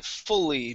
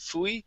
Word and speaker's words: fully: Here we want to say fully. Make sure to pronounce that L to pronounce the difference between the U and the Y. Instead of fui, it's fully.